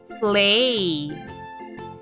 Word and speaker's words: sleigh: naughty the kids in class are naughty slay s l e i g h let's spell that again s l e i g h